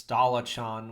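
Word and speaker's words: Dullahan: So he doesn't pronounce it dulahan. It's Dalachan, which I thought was interesting, but it's the same thing.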